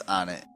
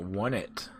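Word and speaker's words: Onett: I believe it's on it. Because it's not one T, because there's two T's. Well, I've taken to calling it One It at one point.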